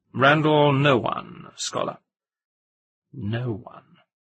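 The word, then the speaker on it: Nowan: It's pronounced no one.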